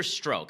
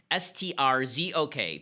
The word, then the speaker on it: Strzok: An actual bombshell drops, and that is that there's an agent named Peter Strzok. I think that's how it's pronounced. S-T-R-Z-O-K.